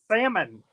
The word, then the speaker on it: salmon: No, but the L is silent. It's supposed to be silent. Salmon.